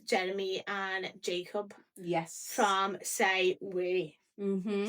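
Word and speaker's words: Say Oui: From Say We. Mm-hmm. Say We. So it's spelled Say O-U-I. Yeah.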